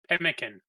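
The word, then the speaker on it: pemmican: say a trial ration so they are like piman I can't how do you pronounce that wordon you no not the fruit oh uh peekin the p m m i c an pkin thank you yeah basically you're making pimkin power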